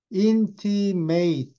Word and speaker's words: intimate: 란 말은 이런 뜻이에요 근데 인티 발음이 달라요이 스펠링은 똑같아서 인티미트 하면 형사고 아주 가까운 밀접한 이런 뜻이고 intimate 하면 동사에 티이는 쏙딱 쏙딱 알려주다 그 사람한테만 이런 뜻이에요 티메이 하 어 귀쪽